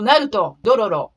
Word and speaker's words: Naruto: another important factor is accent tokyo standard is very flat so naruto zoro is how japanese pronounce it's not your fault